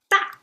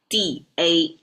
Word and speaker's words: 大: Da. Easy to pronounce as well. D-A and it's fallen tone.